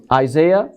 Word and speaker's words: Isaiah: How do you pronounce it? Isaiah.